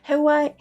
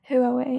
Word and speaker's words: Huawei: Hawaii. We even have that in the company. How do you pronounce it, guys? Huawei.